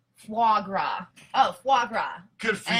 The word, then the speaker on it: foie gras: It's pronounced foie gras.